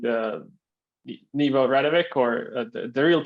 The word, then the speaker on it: Nebo Radovic: As you guys mentioned, my name is Nebo Radovic, or the real pronunciation is Nebo Radovic.